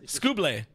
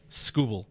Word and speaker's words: Skubal: According to the pronunciation on Baseball Reference, it is Skubal. Skubal do. They don't even have the A in the last when you're hooked on phonics. They don't even have the A in the phonetics. Skuble.